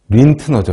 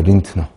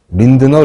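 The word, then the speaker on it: Lindner: 고안한 건 한센이 아니고 린트너죠 린트너 린드너 린트너 근데이 사람이 어느 나라 사람인지 잘 모르겠는데 아무튼 도고식으로 읽으면 린트너라고 읽는게 맞는 거 같은데 뭐 편한 대로 읽어도 되겠습니다 이 사람이 발견한 거죠이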